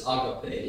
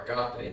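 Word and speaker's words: ἀγάπη: Some of us refer to that as agape love, or agape, as some people pronounce the Greek word.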